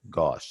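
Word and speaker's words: gauche: happens well we have one that's called gosh gosh that's how it's pronounced it's a german word and it is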